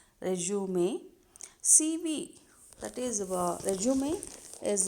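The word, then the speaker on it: résumé: also known as resume it is pronounced as resume cb that is resume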